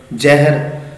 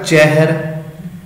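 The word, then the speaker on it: ਜਹਿਰ: जिवें ज हाए नूं सिहारी र जहर, लेकिन असीं की उच्चारण किया जहर।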